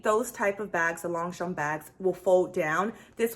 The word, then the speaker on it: Longchamp: refer to them as Longchamp, right? Longchamp. No, it's Longchamp. With that being said, the G is silent and the P at the end is silent. So it's Longchamp. Say it with me, Longchamp, right?